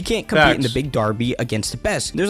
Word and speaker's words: Derby: I was calling it Darby and I was like, I think it's actually Derby, but he said Darby like D A RB Y.